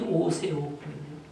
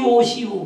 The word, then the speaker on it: 오세옥: 교수 미국의 신학생들 부르는데 저 이름을 갖다가 자꾸 오시오 그래 오 아니데 세라고 발음을 못하고 시오시오 그래요 그래서 아 이게 세데 발음을 못하는 거예요 그래가지고 SA 이렇게도 써